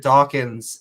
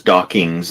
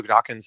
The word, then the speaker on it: Dawkins: pronounced mispronounced it as dockings but a lot of people do that and so yeah it's important people to remember when mentioning Richard daw's name it ends just with NS not NGS so just just keep